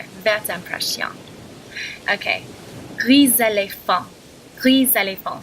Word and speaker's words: gris éléphant: See, normally it'd be gris for grey. Éléphant, elephant. Together, gris éléphant, not gris éléphant. Because of the vowel after the S, you pronounce it gris éléphant.